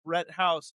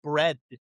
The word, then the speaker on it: Brett House: My name is two syllables. Brett House, and it gets messed up all the time. It doesn't travel. People call me bread.